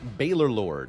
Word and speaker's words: Baalorlord: what a stinky fight how do I pronounce my username Bor Lord is the preferred pronunciation jet 989 says I